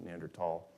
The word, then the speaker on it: Neanderthal: lucy then homo habilis neanderthal um the germans pronounce it with a hard t like my last name so neanderthal and and then modern